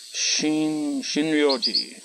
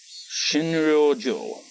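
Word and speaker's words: 診療所: Butchering their pronunciation, but Shinryo-ji. No. Shinryo-jo. It's a bit confusing. Shinryo-jo, actually. It's she, then it's re, but it's got a little yo, so that turns re into ryo.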